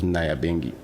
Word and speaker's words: Nyabingi: And in reggae music, I discovered the concept of Nyabingi. That's how they pronounce it, and the Rastafarians call it Nyabingi.